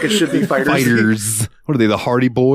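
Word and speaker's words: FighterZ: ] pronounce this game I call it Dragon Ball fighter Z is it just Fighters it is just Fighters it is just Fighters I always thought it was fighter Z too dude fighter Z sounds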